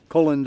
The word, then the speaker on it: Colin: friends know me as colin that's pronounced with a long o that's how my mother